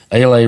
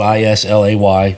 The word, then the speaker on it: Islay: mess this up too it's the Ala region spelled i s l a y I used to say islay it's IL oh I